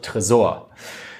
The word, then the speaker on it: Tresor: to safe or vault well let me pronounce as a German way because well I'm German it's called Tresor it's not the end